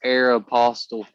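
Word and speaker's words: Aéropostale: It's Aeropostale. That's how I think it said Yeah. Aeropostale. Aeropostale. No. That's how it's said.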